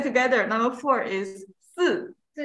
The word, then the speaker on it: 四: Okay, okay, let's say together, number four is 四, 四, 四, yes. Pay attention, when you see S, I, you want to say C, right? Because I is E, but this E is quiet, is silent here.